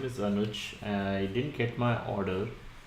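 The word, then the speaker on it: Anuj: Sure, but my name is Anoj which is spelled as a n u j. Thanks Anoush.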